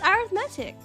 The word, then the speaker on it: arithmetic: It sounds the same in both British and American English. So pronounced with stress on the second syllable.